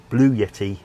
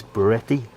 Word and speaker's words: Bluetti: I kept saying calling it Blue Yeti in the last one, but that's a microphone, but it's Beretti. I can't never pronounce it correctly.